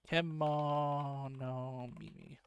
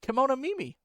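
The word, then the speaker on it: kemonomimi: I might be pronouncing that wrong. Let me check. Kimono Mimi. I got it right. Kimono Mimi.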